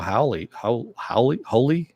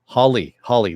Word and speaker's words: Hawley: You know, we're gonna get some more stuff from Noah Hawley. Hawley.